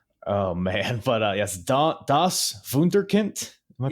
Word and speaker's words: Wunderkind: Oh man, but yes, Das Wunderkind. Am I pronouncing that right? Wunderkind, yeah.